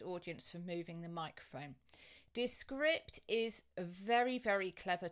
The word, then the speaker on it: Descript: how to spell it so it's like describe but instead of b e at the end it's p for Papa and T for tango I'll just move my